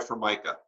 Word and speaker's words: Formica: have you dad and your mom but for Micah you know that was but formica sounds perfect don't even blame people because there is a you know for Micah they think that the countertop you know right